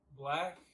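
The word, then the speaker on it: 6lack: Number 2 is probably Black or 6 like. I don't know. It's pretty Really cool. Black. My friend went to his concert, and it says Six Flag, pronounced black.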